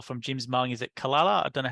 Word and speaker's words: Calala: Is it Kalala? I don't know how to say it exactly. Is it? Yeah, Kalala in Tamworth.